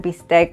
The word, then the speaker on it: bistec: everyone today we're making tacos be steak which is literally beef steak mispronounced now to be able